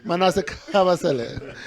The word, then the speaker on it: Kabasele: Manassé Kabasele.